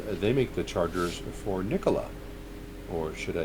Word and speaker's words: Nikola: with tritium because they make the chargers for nikola or should i say nikola as the correct pronunciation goes and i know that some of